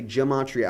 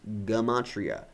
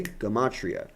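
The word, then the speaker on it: gematria: You hear people say Gamatria, I promise you it's Gamatria. No, uh, no J sound for the G in Hebrew. Okay? Gamatria.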